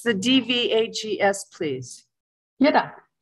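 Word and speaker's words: ཡི་དྭགས: Yidak. It's Yidak. Yeah, the V is silent, and it's just used...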